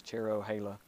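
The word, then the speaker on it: Cherohala: of the word Cherokee and Nala so it's cherro Hala um connects the two Indian Reservation areas together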